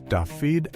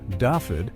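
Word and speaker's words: Dafydd: And as they grew, Daffyd, a name that in Welsh is pronounced roughly as Davy, attached itself to the mythology of the sea's judgment.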